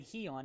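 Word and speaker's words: Gijón: gijon vs athletics sporting he on excuse me shout out christian for the connect printer correct pronunciation there he on not doesn't matter they're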